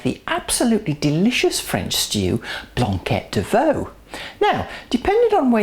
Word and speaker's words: Blanquette: let's have a quick word about the correct pronunciation it's called a blanquet not a blanket it's not a blanket any more than a